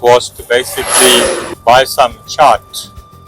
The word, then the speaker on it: Chaat: I'm not sure exactly how it is pronounced, but locally they pronounce it chart.